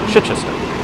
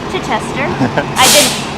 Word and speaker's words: Chichester: We went to visit them in Chichester, I believe is how you pronounce it. Alec, correct me. Chichester. Chichester.